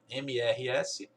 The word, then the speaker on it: Mrs.: Só que primeiro você não pronuncia esse T, não é Misters, é Mrs.